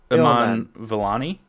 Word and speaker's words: Iman Vellani: it's Ilman Iman Ilman, Iman Vellani.